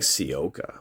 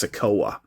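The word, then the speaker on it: Sikoa: name wrong right solo I think I was saying sioca but it's sukowa all right we have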